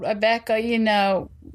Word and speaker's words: Abihka: Native American town called Abika. Did I say that right? I think it is. Right? It's also called Abeka, at times, but I think the main name is Abika.